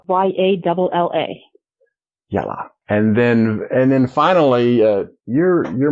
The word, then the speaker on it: Yalla: It's a word that means let's go, or come on, or okay, or pretty much anything. And pronounce it Very again. Very versatile word. Yalla. Yalla. Y-A-L-L-A.